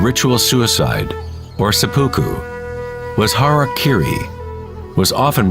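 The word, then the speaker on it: hara-kiri: one form of ritual suicide or sepu was harak Kiri was often mispronounced as Harry Kerry it means to impale one's Hara thereby cutting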